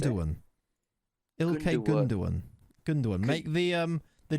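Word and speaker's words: Gündoğan: Ilkay Gundogan. Gundogan. Make the G. See the little thing on the G. It's Turkish, isn't it? It's a y sound, not a.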